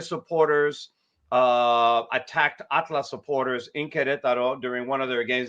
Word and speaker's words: Querétaro: Querétaro. Is that the way I pronounce it, right? Querétaro? Querétaro, yeah. That's very good.